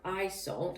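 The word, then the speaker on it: Iseult: of all the oh it's pronounced i salt i think i mispronounced it but eye salt is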